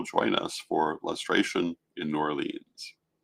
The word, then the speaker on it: New Orleans: And so a year from now, I hope that you will join us for Lustration in New Orleans, or Norlands, as I believe it is commonly pronounced.